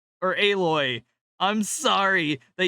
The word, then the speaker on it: Aloy: They modeled nipples on Alloy. Or Aloy. I'm sorry that you name your character Alloy and pronounce it fucking weird.